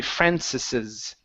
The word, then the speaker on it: Francis's: apostrophe s yeah okay but when a word ends with an s okay we don't add another s here all we do is put on that uh that apostrophe sign and it means that we need to pronounce the the next s so that's why it would be francis's Francis okay okay so